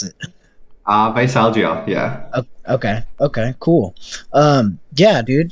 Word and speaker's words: Veisalgia: How do you pronounce it? Veisalgia, yeah.